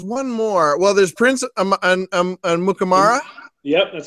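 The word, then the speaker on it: Amukamara: Well, there's Prince Mukamara.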